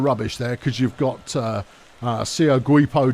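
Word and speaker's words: Seogwipo: There's a lot of rubbish there because you've got Sio Guipo downtown. Pronounced that way, that's official.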